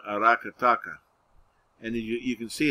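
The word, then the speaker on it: Aracataca: lower right you see i don't know how it's pronounced i don't see a tilde so it should be arakataka was that was the birthplace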